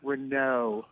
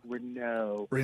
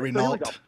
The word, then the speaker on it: Renault: the other thing is it's pronounced Renault. Renault, not Renault. Yes, Renault.